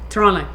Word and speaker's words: Toronto: Toronto. There's no T. I've been told that, so I feel bad that Toronto.